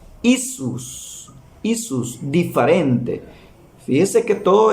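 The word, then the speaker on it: Иисус: se pronuncia jezu Yu en ruso se pronuncia isus yus diferente fíjese que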